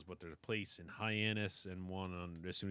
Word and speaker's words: Hyannis: is that the name Hyannis Hyannis Diana this is spelled hi anus no H a hy n like why not like - never so there was an